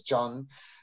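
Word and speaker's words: Can: It seems as C-A-N, but Ridvan knows this. He's pronounced as J in Turkish, so it's John.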